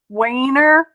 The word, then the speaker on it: wiener: is where all the wiener dogs are and it is pronounced weiner dog wiener not dash hound dash hams are fancy